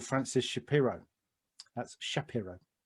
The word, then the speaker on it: Shapiro: developed by a lady called francis shapiro that's shapiro pronounced it properly and what she noticed is that